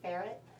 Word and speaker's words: ferret: In real life I would say ferret. I'm going to say fair-et.